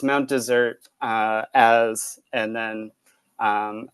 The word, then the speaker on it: Mount Desert: set of poems called Mount desert I pronounce it wrong because I'm a jerk uh but it's Mount desert uh as and then